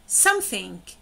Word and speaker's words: something: something، شوفوا some هو المقطع القوي والthink هو المقطع الضعيف.